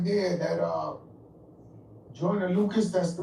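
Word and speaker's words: Joyner Lucas: And that joint right there, that uh Joiner Lucas, that's the right way to say it cuz I'm I his name.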